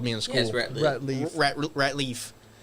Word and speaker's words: Ratliff: that was it's it's it's not rackliff it's a common thing yeah it uh the way I it to that think think like rat Leaf like that's what my